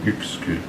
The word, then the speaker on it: Uexküll: Vous connaissez le nom de Uexküll, enfin au moins plusieurs d'entre vous sans doute, mais d'abord ça se prononce U, hein, c'est Uexküll. C'est un nom balte.